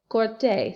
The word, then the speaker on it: corté: Okay, sí, lo corté, C-O-R-T-E, accent on the E.